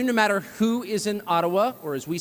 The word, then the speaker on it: Ottawa: taken from you no matter who is in Ottawa or as we say atawa which by the way is the correct pronunciation according to my friends in the ajba